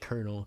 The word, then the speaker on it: colonel: I don't understand true it's like Colonel cuz kernel doesn't make sense to pronounce it the way that it's yeah it's it's spelled colonal Oh I thought we